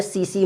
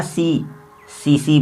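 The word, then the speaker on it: tsetse: सोने की बीमारी है मस्तिष्क प्रभावित, और सोना सीसी मक्खी, सीसी मक्खी, और इसको इंग्लिश में टीएससी भी ऐसा लिखा जाता है, टिस से, है ना। ये वो सीसी ही है लेकिन साइलेंट है एक तरह से।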